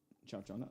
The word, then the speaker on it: Ciaccona: How do you pronounce her name? Chachona.